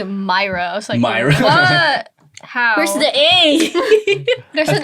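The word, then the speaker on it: Moyra: my name right yeah i pronounced your name wrong for the longest time i pronounced it moira so people call me myra where's the a there's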